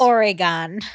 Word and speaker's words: Oregon: weird okay go ahead I said it how it's pronounced Oregon Oregon we're going to